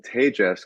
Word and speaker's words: Tejas: seeing it right now, it's spelled Tejas. So a lot of people, we're more used to Spanish here in the US. So when you see that, people will pronounce it Tejas. And Yes, Tejas is Tejas. how you say Texas in Spanish.